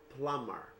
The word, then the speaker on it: plumber: You don't say plumber, you say plumber. Okay? Please don't pronounce the B there. Only pronounce M and ER.